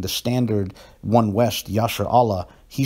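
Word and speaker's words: ישראל: Is it pronounced Yashar Allah or is it pronounced Yashar Al? Most proponents of Lashon Kodash would say that Yashar Allah is standard, but you see more and more people saying Yashar Al.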